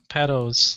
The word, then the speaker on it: Patto: Patto's like from like 70 to 73. I don't know why I forgot how to pronounce that for a second.